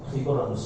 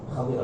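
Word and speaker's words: خضر: ஹதீர் அலைஹிஸ்ஸலாம் அவர்கள் சொல்லுவாங்க, ஹிபர்னு சொல்லுவோம். ஹதீர் அலைஹிஸ்ஸலாம் தான் சரியான உச்சரிப்பு. ஹிபர் அல்ல, ஹதீர் அலைஹிஸ்ஸலாம்.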